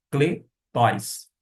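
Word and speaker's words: κλητοῖς: Já vimos que parece com ele de navio, porém é o nosso E, tanto é que eu pronunciei cletóis.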